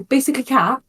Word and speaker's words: BasicallyCatX: My friends all the time now will be like, oh, Basically Cat. Or Basically Cat. They call it me now. The X is silent, Yes, yes.